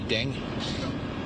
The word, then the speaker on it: Deng: Ding.